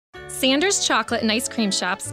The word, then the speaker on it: Sanders: new sanders bumpy cheesecake it's pronounced saunders isn't it and did you say bumpy cheesecake no it's pronounced sanders and yes bumpy cheesecake